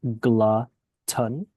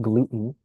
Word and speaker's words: glutton: The word is pronounced glutton, though, like glutton, not gluten.